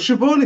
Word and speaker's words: Siobhan: Well, Siobhan is fine. I went to school with the Siobhan, so I know Siobhan. I got that from year seven in school, so I'm really good on Siobhan.